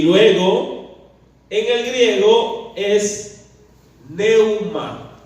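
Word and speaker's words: πνεῦμα: Y luego, en el griego es neuma. Se escribe con una P al principio, P de pelota, N-E-U-M-A, neuma.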